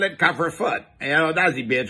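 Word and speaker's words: couvre-feu: curfew ours the french used to call it cover foot you know does he beat your pronunciation but it's fairly close to the french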